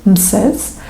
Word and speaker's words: Mses: And if we're going to pronounce Moses' name in ancient Egyptian manner, we're going to have 3 letters, Mses.